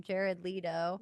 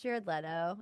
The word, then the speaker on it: Jared Leto: I think that's so special that you call him Jared Leo. Maybe that's what he deserves. But now I've had to. Well, it's Jared Leto.